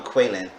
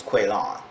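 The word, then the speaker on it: Quaylon: say his name because she keep calling kweilyn but he keeps saying his name is quail on all right so chevelle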